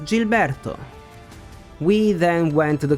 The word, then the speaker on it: Gilberto: felia family called Mr Gilberto and in Italian G plus I is G while if we want to say G we need an H in the middle so the correct pronunciation is Gilberto we then went to